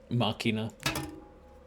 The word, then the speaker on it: Machina: Machina. That's how you pronounce it.